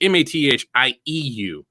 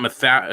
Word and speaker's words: Mathieu: So my first name is spelled the French way, so it's Mathieu. Instead of the traditional English or American way with Matthew or Mathew or something like that. It's not Matthew.